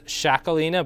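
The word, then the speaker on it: Txakolina: sell better is like the name is spelled uh t-x-a-k-o-l-i-n-a it's shakolina but i couldn't have told you that unless i knew it um fantastic like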